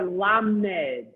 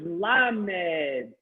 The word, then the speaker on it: Lamed: It's a letter Lamed. Please pronounce 5 times Lamed.